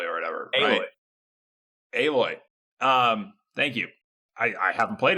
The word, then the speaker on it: Aloy: It was a picture of Alloy or whatever. Aloy. Thank you. I haven't played it, so I didn't know. It's spelled like Alloy.